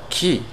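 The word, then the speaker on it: quay: type ky and lookup it says key as the same pronunciation as a word q-u-a-y key the third reason there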